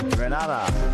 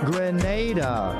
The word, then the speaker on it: Grenada: So, today, like we German say, we are in Granada. But I heard in English it's called Grenada. Say it right. Grenada. Say it right. Grenada. That's right. There we go. It's not granada.